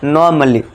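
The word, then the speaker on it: normally: यहां पे जो है ए साइलेंट हो जाएगा। ठीक है दोस्तों? आपको इसको कैसे पढ़ना है? नॉर्मली।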